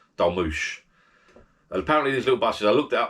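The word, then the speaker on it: dolmuş: It's spelt Dolmus or something, Dolmus. But I think if you look up on the internet, it's pronounced Dolmush.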